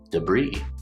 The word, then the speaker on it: debris: And then brie, like the cheese, brie, or the beginning of the word breeze. We have b, and that B sound is blended with the R sound, bruh. Like we say at the beginning of the word brother or breath or bromance or bridge. And then the long E sound, brie, debris.